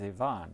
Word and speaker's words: Yvonnie: names well that's why I I would always pronounce it as Yvonne it's a UPS was more than girl robbers